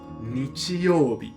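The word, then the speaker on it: 日曜日: Lần này, nó được đọc là "Nichi youbi."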